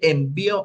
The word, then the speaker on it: envió: Pero si yo digo, él envió una carta, envió en ese sentido con el acento en la O, ya no significa, ya no se va a referir al paquete, ¿verdad?